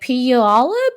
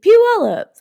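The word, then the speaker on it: Puyallup: And I was like, "Polip." And they're like, "Never say that again." And then they taught me how. They're like, "Just think of pew pew pew allup."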